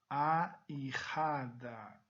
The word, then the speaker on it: ahijada: Então a minha pronúncia nesta palavra, ahijado, ahijada. O H não existe um som característico. Agora, o J, nesse caso aqui, ele vai ter um som de R.